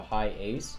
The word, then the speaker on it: Hiace: The Toyota Hiace, so it's spelled Hiace. It's called the Hiace.